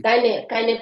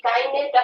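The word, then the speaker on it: kein: কাইনে problem. ঠিক আছে, কাইনে না, কাইন প্রবলেম, কাইন প্রবলেম।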